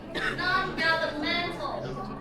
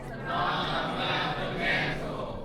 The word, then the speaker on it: non-governmental: Non-governmental. Non-governmental. Again. Non-governmental. Alright, so now please write down the word in your notebook. Non-governmental adjective. And please put the stress on the fourth syllable.